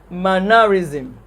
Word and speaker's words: mannerism: for the word mannerism any word that ends in ism suffix ism has the stress on the first syllable words that end in